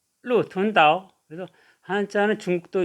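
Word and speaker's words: 鹿屯岛: 그래서 발음하면 루툰다오, 루툰다오.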